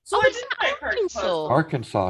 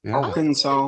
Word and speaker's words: Arkansas: wrong pronunciation it sounds like that or it's spelled like that yes but it's Arkansas yeah Arkansas okay we've always called it isn't that messed